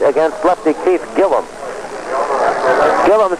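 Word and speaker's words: Gillim: against Lefty Keith Gillum Gillum spells his last name g i l l i m but pronounces it Gillum not Gillam here's the pitch to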